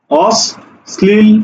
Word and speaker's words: অশ্লীল: কোথায় আছে শব্দের মাঝে মাঝে থাকলে যার সাথে থাকবে তাকে দৃত্ত করবে তার দৃত্ত উচ্চারণ হবে অর্থাৎ এই জায়গাতে হবে কি অস স্লিল অস স্লিল ঠিক আছে অর্থাৎ যেটার সাথে যুক্ত থাকবে তার দীপ্ত উচ্চারণ করবে তার কি করবে দৃত্ত উচ্চারণ করবে অর্থাৎ স এর সাথে ল ছিল সুতরাং স দুইবার উচ্চারণ হইছে এবং ল উচ্চারণ হইছে এই কথাটা বললাম ঠিক